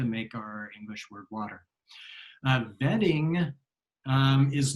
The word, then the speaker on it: Wedding: But I also noticed that oftentimes words like Wasser would be W, or like vetting is wedding. In Berlin, there's a city called Vetting, but it's spelled wedding.